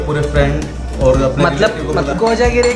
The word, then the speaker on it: कोजागिरी: कोजागिरी के बारे में ख्वाजा नहीं कोजागिरी प्रोनाउंस कर कोजागिरी यस यू डिड इट